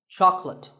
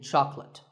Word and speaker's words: chocolate: Chocolate. When you ask for this at the store, make sure that there are only 2 syllables. Choc and let. Chocolate. And remember, there's no late in chocolate.